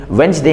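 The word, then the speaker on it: Wednesday: लोगों को पता नहीं है की भाई ये साइलेंट है जैसे वेडनेसडे में वेडनेसडे हम लोग कहते हैं तो दी साइलेंट होता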